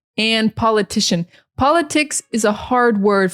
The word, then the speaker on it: politician: But in English, it's politics. And the emphasis is on the first syllable. Politics, politics, politics. And the person is the politician. So the emphasis changes. Politician, it's on the second syllable.